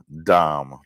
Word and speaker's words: Dahm: It's Nathan Dahm, D-A-H-M. I had a principal name. His last name was Dahm, so that's how I know how to say it that way, because it was spelled exactly the same.